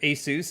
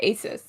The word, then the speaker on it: ASUS: I take it back because they are partnering with ASUS at ROG.